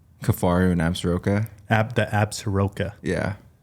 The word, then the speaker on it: Absaroka: I think that's how you say it. Yeah, I think it is too. Yeah. I've heard Absorka too. Yeah, Absorka. Yeah, some people say it like Absaroka.